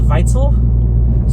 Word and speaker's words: Weitzel: Basically, how I got my name was my last name is Weitzel, but it's a German last name, so it's pronounced Weitzel. So instead of a W, it's a V, how the German pronunciation of it is.